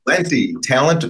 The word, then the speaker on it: Talenti: Talenti. Talent with an I. It's very easy to remember.